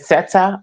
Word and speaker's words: Sette: And it's pronounced set, by the way. Just set.